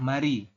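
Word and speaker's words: 말이: Dibacanya adalah mari, bukan mal-i.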